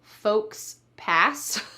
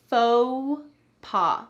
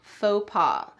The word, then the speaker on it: faux pas: Note the pronunciation here, faux pas. We don't say folks pass. Instead, this is a French word and we're going to say it in the French style, slightly English style as well.